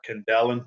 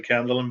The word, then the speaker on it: Kendellen: I think it was Kendallin or Kendellen, some people pronounce his name. I've been told by the Cork faithful that it's definitely Kendallin, but we'll argue over that one at another stage.